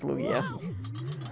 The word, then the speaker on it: Lugia: Oh, I said Luigi, but you actually did spell that correctly. That is Lugia.